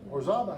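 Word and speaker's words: Orizaba: And I cannot pronounce the name of this town. This little community, Orzaba. Is that it? Orzaba, hey, I got it right.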